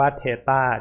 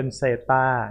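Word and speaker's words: theta: ไหน สไลด์ นะ ครับ ตัว นี้ อ่าน ออก เสียง ว่า สะกด ว่า เท ต้า t h e t a นะ ครับ ผม ไม่ Audi ยิน เสียง คน ส่วน ใหญ่ ชอบ อ่าน ออก เสียง เป็น เศรษฐ า นะ ครับ ใช้ ป้า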